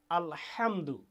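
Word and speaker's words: الحمد: লিল্লাহি রাব্বিল আলামিন অর্থাৎ হা এবং আইন এই দুইটা অক্ষর গলা চেপে শ্বাসরুদ্ধ করে উচ্চারণ করতে হয় এরপরে আবার ওই যে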